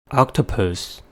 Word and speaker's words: octopus: spelling rules for example octopus the words has three syllables and the stress is at the first one the first syllable is